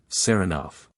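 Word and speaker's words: Saranoff: him round this way he pronounces the name with the stress on the second syllable sarov Nicola yes sir he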